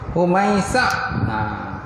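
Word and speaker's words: هميسع: Ha gulung mim ya sim ain. Humaisyah. Humaisyah.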